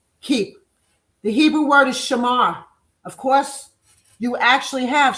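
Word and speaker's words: שמר: So, Shamar S H A M A R S H A M A R The pronunciation is S H A hyphen M A HR.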